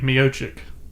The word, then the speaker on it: Miocic: Stipe Miocic. I like to say Miocic, but the announcers say it Miocic.